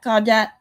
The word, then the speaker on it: Gaudette: It's Gaudette or Gaudet. That's the way I see it. And it's actually pronounced Goody, which is just weird.